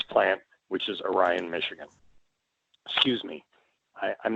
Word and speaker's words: Orion: It's called Orion. It's spelled like the star, but you call it Orion. And if you say that the other way, they look at you strangely.